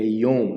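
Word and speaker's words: יוֹם: Então, observe que é Yom, né? Porque o Yud, ele é o I, né? Equivalente ao I. E o Vav, com o Rolem, pontinho em cima. Então, a pronúncia fica Yom. Então, observe os números, tá? Esses números aqui. A sequência de como pronunciar. Primeiro você pronuncia o I, depois o O, que é o Rolem Vav, e depois o Mem. Então, fica I, Om, certo?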